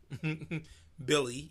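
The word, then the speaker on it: Willy: sign Billy Hernan Gomez Billy you know it's spelt Willie but it's pronounced Billy also coos I'm gonna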